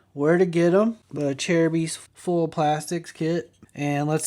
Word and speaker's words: Acerbis: A lot of people mispronounce Acerbis. It's called Acerbis. Acerbis.